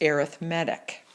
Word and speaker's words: arithmetic: If a sequence follows a pattern of adding, then it is called an arithmetic sequence. Notice how I pronounce that. Even though it's spelled like arithmetic, it's pronounced arithmetic.